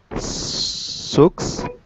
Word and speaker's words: socks: Socks. Yeah, it's actually pronounced socks. So it's like this ah sound for the O.